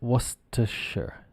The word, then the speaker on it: Worcestershire: and then if we add the Shire on becomes Worcestershire sure like sure yeah okay no problem sure Worcestershire it's basically like when you see this word you go oh that's the word that's pronounced Worcestershire and if it's on if